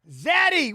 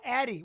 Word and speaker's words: Zatty: Zatty. What up, Zatty? How you doing, Zatty? Are you good? Hope you're well. It's like the Z is silent. Oh, Addie.